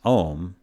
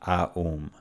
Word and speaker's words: Om: Much like Om is Om, not Aum. Occasionally you may hear people pronounce the A and U, but they are taking things a bit too literally.